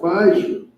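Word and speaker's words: מעשר: Means tenth in Hebrew, and is pronounced ma'asher.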